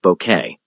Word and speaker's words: Bucket: Hi, with her obsessive attempts to climb the social ladder and her insistence that her surname be pronounced bouquet became an iconic character in British television history.